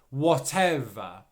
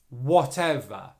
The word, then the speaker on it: whatever: around that technically speaking the v sound is on the end of the stressed syllable whatev okay and then